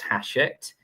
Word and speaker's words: Hachette: professional development books, then go on over to Hachette Learning, and it's pronounced Hachette, but it's spelled like it's Hatchet.